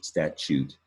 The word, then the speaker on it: statute: chew, or the sound chew when you say statute. So all you spellers out there, take a look. You need to know the French root of statute. It's not the word chew. You don't spell it with a CH, nor do you spell it with an EW.